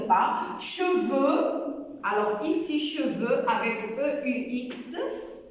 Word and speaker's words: cheveux: Cheveux. Alors, ici, cheveux avec E-U-X. Le X du pluriel des noms ne se prononce pas.